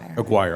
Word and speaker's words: Aguirre: Aguirre. Okay, kind of like the former Dallas Maverick I'm dating myself here Dallas Maverick Mark Aguirre.